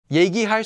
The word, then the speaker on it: 얘기: 얘기할 수 있으세요? Can you talk now? Notice that although I've written 이야기, most of the time this will just be pronounced and written as 얘기.